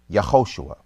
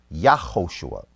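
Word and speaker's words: יהושע: The Tiberian pronunciation for the Messiah is Yehoshua. The Judean pronunciation for the Messiah is most probably Yahoshua. So there's no deception here. This is a matter of dialect.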